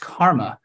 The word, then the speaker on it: CCRMA: It's abbreviated CCRMA, and it's sometimes pronounced KARMA.